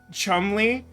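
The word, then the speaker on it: Cholmondeley: It's 19XDX, and, oh yeah, I forgot to mention in my recap the borough of Chumley, which is spelled like Chumundelinly or something. It has, like, 40 silent letters.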